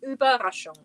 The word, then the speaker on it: Überraschung: Überraschung is how you say it.